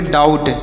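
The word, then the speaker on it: doubt: तो इसे क्या पढ़ेंगे डी ओ यू से पढ़ेंगे डाउ और बी से पढ़ेंगे यहां पर बी साइलेंट है और टी से पढ़ेंगे ट तो इसे पढ़ेंगे डाउट क्या पढ़ेंगे डाउट और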